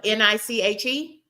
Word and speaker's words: niche: spelled N I C H E. Niche spelled N I C H E, but we pronounce it niche.